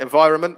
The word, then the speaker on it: environment: another one isn't it environment similar to government where you've got the n before the m disappears so that was another